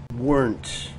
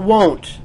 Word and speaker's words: weren't: Weren't. Not won't. Don't say won't. This is weren't.